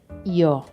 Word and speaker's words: yo: As you probably already know, in Spanish it is yo. It's possible that you hear it pronounced as yo.